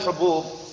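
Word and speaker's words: حبوب: Nah, karena kalau mufradnya habun itu ya, kalau jamaknya apa? Hubub atau habub? Apa? Tahu enggak? Apa man? Nah, walalam kelihatannya itu hubub ya kelihatannya, tapi kita lihat tadi, kita lihat lagi. Kalau mufradnya habun. Nah, habun ya. Nah, hubub kelihatannya. Tadi bacanya habub, nanti diluruskan lagi.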